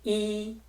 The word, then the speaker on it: 一: B Huh is the fourth tone, and E Huh is the first tone. Next. Wai E Huh.